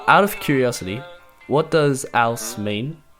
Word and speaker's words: Ouse: my name is Ouse. That is how you say it, by the way. It's not Ouse.